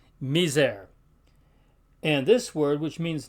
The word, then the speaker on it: miser: word sits all right except between two vowels or at the end of a word there it has kind of a a z sound to it for instance